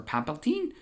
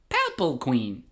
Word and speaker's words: Palpatine: Now you see saving my life, Supreme Chancellor Palpatine. Are you a Jedi?" And Palpatine says, "My name is pronounced Palpatine. Palpatine. Palpatine. Palpalqueen.